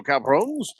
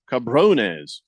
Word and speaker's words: cabrones: Lakers and Viva Mexico cabon not cabon cabrones cabon you typing it